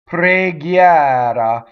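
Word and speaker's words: preghiera: So here we have a word that we often open on the first syllable. Pre. It's preghiɛra, right? So the stressed one is open, and the first one, the unaccented one, is closed.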